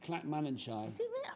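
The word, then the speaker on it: Clackmannanshire: to you and Aon in North Somerset you pronounce that from from an clack CL manshire that's in Scotland clack manshire never heard yeah clack manager I probably learned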